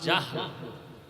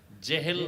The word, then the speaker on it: জাহাল: নাম এইমাত্র তো বললাম আবু জাহাল জেহেল না জাহাল নাম হলো ইমাম গাজালী